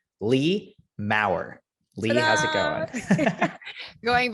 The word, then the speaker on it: Lea Maurer: we are talking to take note on the pronunciation lee maurer lee how's it going going very well thank